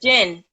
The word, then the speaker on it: Djinn: Because I'm having a little trouble pronouncing it. It's Djinn. Just Djinn.